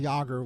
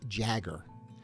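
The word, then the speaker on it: Jágr: crazy that he would always mispronounce two of the greatest hockey players names of all time he always called Patrick W Patrick Roy and jir yogger was always Jagger it's took a lot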